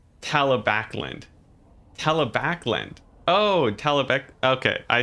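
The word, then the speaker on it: Talabecland: You think I pronounce Talib? Oh, it's Talabakland. Talabakland. Oh, Talabek. Okay, I see. Or Talabekland.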